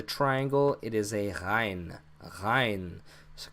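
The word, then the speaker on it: غين: Hein. So kind of like a G, not a G. So technically, the Arabic language does not have a G sound.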